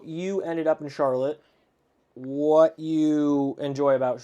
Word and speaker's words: Charlotte: that's spelled identical but we call it Charlotte it's charlot charlot in Vermont and a lot of